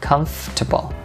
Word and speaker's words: comfortable: Rồi, một tính từ, how to pronounce it, cái phát âm nó là theo phiên âm, đó là comfortable.